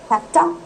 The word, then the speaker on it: have to: Outta, हैफ्टा, हैव टू, आई हैव टू गो, हैफ्टा, हैव टू का हैफ्टा, ठीक है?